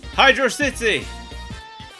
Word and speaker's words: Hydrocity: Hydro City! There's a big debate in the fandom over whether it's Hydro City or Hydrocity, but I maintain that it's Hydro City because it's an underwater city.